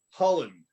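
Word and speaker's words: Hlond: he goes there to meet with Cardinal August Holland, the head of Poland's Catholic Church. That's spelled H-L, there's no vowel there, H-L-O-N-D.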